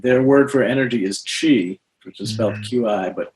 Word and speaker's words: Qi: really captures it their word for energy is Chi which was felt Qi but pronounced Chi and their slogan is the mind it directs